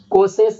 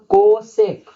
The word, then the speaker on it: cosec: इसका नाम, और ये कोसेस नहीं, कोसेक।